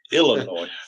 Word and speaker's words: Illinois: It's Illinois. Their state Anyway. motto is Illinois. Please don't Okay.